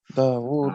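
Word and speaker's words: داود: Dawud was.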